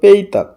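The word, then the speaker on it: petak: শুক্রবার পেতাক এখানে পেতাক লেখা আছে উচ্চার হবে পেইতাক শুক্রবার পেইতাক শনিবার শুভতা রবিবার নেদেয়া এইযে দেখুন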